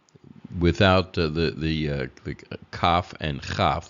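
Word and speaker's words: כף: the the CAF and kaf the second form of the kaf letter without the doish which is CH as in Bak or KH if you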